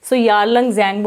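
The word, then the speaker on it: Yarlung Tsangpo: यालंग ज़ैंगबो आप कह सकते हो, इसको चाइना में ऐसे कहते हैं।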